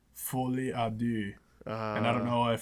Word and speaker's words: folie à deux: say it in French, but it's something like folie à deux. And I don't know if folie is like folie or just folie, but no one's going to bother saying that. It's folie à deux.